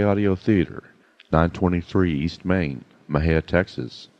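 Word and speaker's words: Mexia: theater 923 East Main Maha Texas Mah ha is spelled m x i a our ZIP code is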